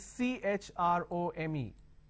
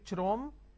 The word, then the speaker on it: Chrome: now here this is C HR o m e can I say trome like Google trome no the pronunciation is Google Chrome so when you have